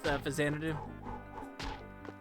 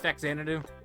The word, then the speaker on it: Faxanadu: Do you know the Captain N episode with Fazanadu? He pronounces it as Faxanadu.